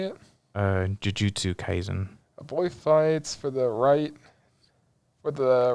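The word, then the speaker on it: Jujutsu Kaisen: it's still in english yeah oh that's this jutsy kaizen is how you say it uh jujutsu kaizen a boy fights for the right for the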